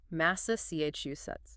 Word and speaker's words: Massachusetts: Long word stress on the third syllable. Massa chu sets.